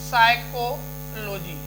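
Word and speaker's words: psychology: साइकोलॉजी, साइकोलॉजी मनोविज्ञान को कहा जाता है।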